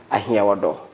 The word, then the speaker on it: Ahiawordor: She is in the person of John Salasi Ahiagbodzi.